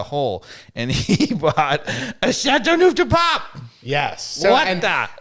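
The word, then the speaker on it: Châteauneuf-du-Pape: How do you pronounce it, Dave? Chateauneuf De Pape.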